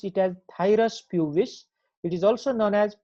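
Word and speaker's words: Phthirus pubis: scabie and this thyrospj is silent here we pronounce it as thyrus pubis it is also known as pubic lyse or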